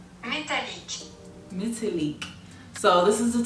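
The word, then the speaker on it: Métallique: The girl on Google say Metallique.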